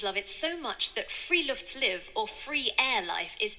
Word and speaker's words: friluftsliv: I've learned so far from Norwegian culture is the spiritual concept of Friluftsliv. It literally means outdoor life. Our well-being. And Norwegians love it so much that Friluftsliv, or free air life, is akin to a...